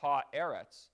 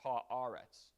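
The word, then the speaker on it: הארץ: unusual thing is eretz it's not ha eretz it's ha aaretz that's the unusual thing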